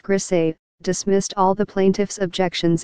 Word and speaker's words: Griesa: In 1981, Judge Griessa, pronounced Grisé, dismissed all the plaintiffs' objections except the one involving the fish study, which he said required a further hearing.